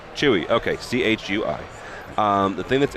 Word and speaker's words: CHUI: Pronounce the name of your company. It's Chewy. Chewy.